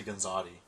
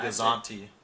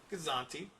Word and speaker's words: Gazanti: You always say Gonzati. It's a No, Gazanti. Gazanti.